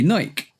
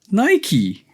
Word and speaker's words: Nike: So we say Nike, which is fine. It's like Mike, bike, tyke, like. Exactly.